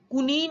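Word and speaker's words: quinine: आपने क्यूनीन का नाम सुना होगा, कुनीन बोलते हो आप लोग उसको, कुनीन प्रोनाउंस करते हैं।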